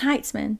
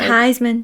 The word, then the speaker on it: Heitzman: I said your last name wrong then. Heitzman. Yeah, I did not. You said Heisman.